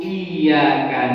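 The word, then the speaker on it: إِيَّاكَ: Kemudian wa tasdidu iyyaka na'budu, dan tasdid pada lafaz iyyaka na'budu fauqal ya'i, di atas huruf ya. Ini tasyin yang ke-9, maka kita bacanya agak digentak pada huruf ya. Iyyaka na'budu wa iya ya.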